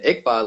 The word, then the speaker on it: Iqbal: knock who's there and iqbal like kickball so it's easier to pronounce that way the idea series is